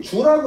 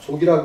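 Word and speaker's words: 足: 잘 꾸미는 겉모습 영색 이건이 주라고 읽어야 됩니다 족이라고 읽지 않고 족이 이때는 지나칠 주 이렇게 읽습니다 주공 그래서 교원 색과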